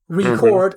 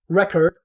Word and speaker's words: record: Because record and record is also because you pronounce the E, for example, very differently in record, where it's just the reduced schwa sound rather than the like an actual E sound.